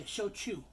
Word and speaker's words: Shochu: We just picked this Umai Shochu. Wait, did I say it wrong? Yeah, Shochu.